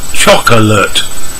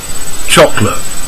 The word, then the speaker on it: chocolate: number one chocolate now many people read the word as chocolate with three syllables but native speakers reduce it to two chocolate number two veg to